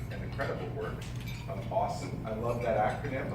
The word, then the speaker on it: UOSSM: I'm so grateful for the critical work and the credible work of AWESSM. I love that acronym. I love the way that that's pronounced, awesome.